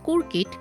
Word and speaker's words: Coorkit: Hello viewers, today I'll show you how to make a Bengali Anglo-Indian recipe called kurkit, which is the Bengali vernacular pronunciation of the word croquettes.